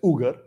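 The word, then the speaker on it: Uyghur: in China in xinjiang also pronounced as ugar there are two types of pronunciation ugar Muslims or vegan Muslims and from history we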